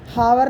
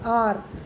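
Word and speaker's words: hour: इन एन आर, आर आर एच, हावर नहीं पढ़ते, आर, H silent है।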